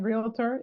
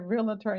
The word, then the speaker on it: realtor: I know that um getting used to saying realtor is going to be different cuz people been saying it wrong all from for those who are not in real estate and over time you're going to hear real attorne you're going to be like